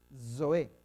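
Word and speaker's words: ζωή: Zoe, como que fuera una DS. No hay forma de ponerlo bien bonito. No hay letra en español. Zoe, ese sonido no lo tenemos nosotros. En griego sí es normal hablar Zoe.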